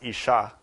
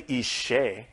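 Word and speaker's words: אשה: If you say Ishe, it means offering of fire.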